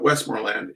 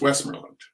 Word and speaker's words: Westmorland: you think about it you can't pronounce it correctly because you T if you look at it too long you go west Morland and or you go west Morland but it's West merland unless I've thought about it too much and I'm now pronouncing it wrong next slide please Betty